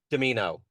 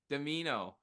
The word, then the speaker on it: Dimino: How do you say it? Domino. Dimino. Yeah. Dimino.